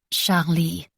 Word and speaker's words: Charlie: Charlie instead of Charlotte giving it a soft French lilt Charlie emphasis on both syllables it was Rose of